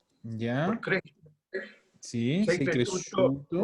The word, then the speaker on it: cresciuto: La SCIU se pronuncia shu. Desaparece la I. ¿Ya? Entonces, al final esto es así.